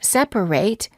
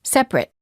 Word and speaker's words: separate: and nouns for example the ate ending of the word separate is pronounced ate if it's a verb as in separate and it when it's a noun as in separate word pairs for practice